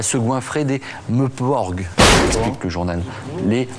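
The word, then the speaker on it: MMORPG: Les Meuporg. Ça s'appelle comme ça, je suis désolé. Mais ça s'écrit comment? Ça s'écrit MMMPORPG. Ah oui. Voilà. Bon, bah, il vaut mieux le voir écrit. Hein. Exactement. De le prononcer. C'est difficile à dire.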